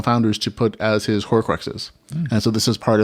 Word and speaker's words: Horcruxes: from the original founders to put as his Horcruxes.